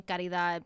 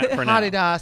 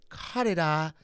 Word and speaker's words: Caridad: Karida. Wait, you're not saying the D.